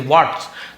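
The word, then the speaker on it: watch: वॉच, वॉच यानी किसी चीज को ध्यान से देखना, तो क्या हो जाएगा, will we वॉच, TCH spelling देख लीजिए, वॉच, तो टी को नहीं पढ़ना, वॉच, लेकिन लिखते समय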